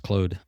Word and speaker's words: Claude: Claude where he's I think it's pronounced Clode.